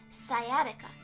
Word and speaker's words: sciatica: Google tell me how to say the word pronunciation sciatica sciatica yeah that word the hardwood floor isn't helping my sciatica let me tell you about sciatica because I